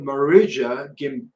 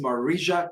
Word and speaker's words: Marija: So according to Marija Gimbutas, that's spelled Gimbutas, Marija, I think she's Russian. Marija is spelled M-A-R-I-J-A.